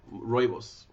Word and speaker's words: rooibos: tell you yes Malcolm I learned how to pronounce it long ago rooibos it's the way it's supposed to be pronounced it's actually very good